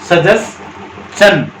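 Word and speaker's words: suggestion: जैसे क्वेश्चन है ना, इसी तरह से देखो, इसमें भी TION से पहले S है, TION से पहले S है और TION से पहले S है, तो इसको चन बोलेंगे तो ये दोनों भी चन बोले जाएंगे।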